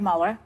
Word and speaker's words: Mueller: Mueller, Mueller, or Miller? Mueller.